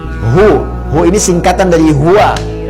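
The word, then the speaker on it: هو: hu ini singkatan dari hua hua dari mana tahunya singkatan karena kalau kita wakaf dalam kalimat Hua kita enggak baca Hua bacanya hu ya Quran surah keed2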